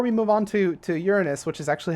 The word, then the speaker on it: Uranus: I do before we move on to to Uranus which is actually how it's pronounced guys I looked it up before we